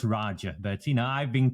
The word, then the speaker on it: Raja: uh in terms of butchering my name it's pronounced Raja but you know I've been called far far